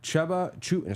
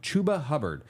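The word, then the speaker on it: Chuba Hubbard: a onewe relevancy list chubba Chu sorry I always say his name wrong chuba hubard uh seems to have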